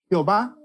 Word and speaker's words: Jehová: don ahí lo que dio una pronunciación semejante a jehova o más correctamente dicho ya ve así la forma latinizada del nombre de dios que usamos en nuestras versiones es jehová y el texto latino